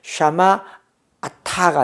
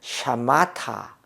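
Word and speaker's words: שָׁמַרְתָּ: 그래서 샤마아타가 아니고 샤마타.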